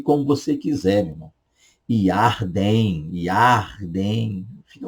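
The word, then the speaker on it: ירדן: Yarden, fica à vontade, tá? Mas caso você queira pronunciar corretamente, Yarden, tá?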